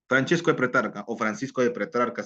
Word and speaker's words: Petrarca: de pretarca en italiano Francesco escri pero frco Petrarca Si queremos hablarlo en español muy bien la ve